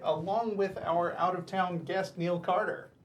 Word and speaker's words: Neil Carter: And it's Neil Carter, not Nell Carter.